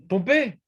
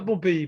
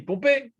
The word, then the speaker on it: Pompée: Pompée, pas Pompéi, Pompée.